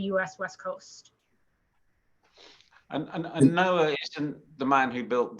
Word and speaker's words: NOAA: pronounced noaa and not noah do people actually pronounce it noah everyone yes it's ubiquitous but it's it's the